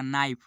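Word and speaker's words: knife: जाएगा इसका हो जाएगा ऑनेस्ट इसका हो जाएगा नाइफ इसका हो जाएगा नाइफ तो आज की इस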